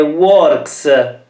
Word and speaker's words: works: Questa è works! Quindi qui abbiamo un verbo che finisce con un suono forte. Che. Quindi si pronuncia una S.